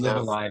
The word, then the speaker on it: Live A Live: I think Live A Live is the is the correct pronunciation though.